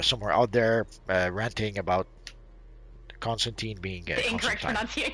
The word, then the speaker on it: Constantine: From what I understand, this is sort of the American pronunciation. Supposedly, the real pronunciation is supposed to be Constantine. Oh, really? Yes, but he's been called Constantine for so long throughout various media that pretty much became the default pronunciation now.